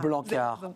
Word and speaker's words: Blanckaert: On ne prononce pas le T. Non. On est d'accord? Non, c'est un nom flamand et AERT ça se prononce A. Blanquart, votre parole vaut de l'or.